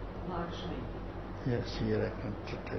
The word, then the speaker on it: Lakshmi: tell you how to write it, how to pronounce it. The name is I give you is Lakshmi. Lakshmi.